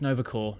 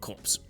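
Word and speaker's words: Nova Corps: patents oh yeah and it's Nova core not cops that's just me being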